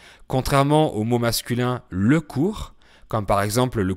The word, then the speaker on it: cours: au mot masculin le cours, comme par exemple le cours de français, qui s'écrit C-O-U-R-S. Ce sont des homonymes, ils se prononcent pareil parce que le S final est muet en français, mais ils ont une écriture différente.